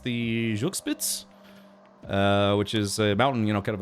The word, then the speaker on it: Zugspitze: I mean, yes, I've been to I think it's pronounced the Zugspitze, which is a mountain, kind of a famous mountain in that area.